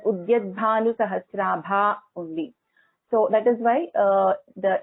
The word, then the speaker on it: उद्यद्भानुसहस्राभा: But actually the name has to be pronounced together. So it has to be pronounced as Udyadbhanu Sahasrabha only.